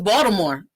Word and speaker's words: Baltimore: that people say it yes it's spelled with a t no one from box tomorrow everyone says baltimore like with a d so you could clearly